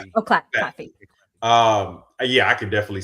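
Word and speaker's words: Claffey: Cl It's Clafy. Oh, Claffy.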